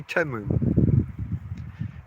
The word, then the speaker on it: Temu: say teu don't they if I was reading that word I would say teu just from the letters they say temu got to go with